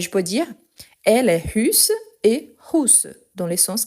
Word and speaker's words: russe: Ici, j'attire votre attention car si on prononce russe, c'est la personne qui a deux chevaux orange, rouge. Donc, ici, il faut faire le bec russe.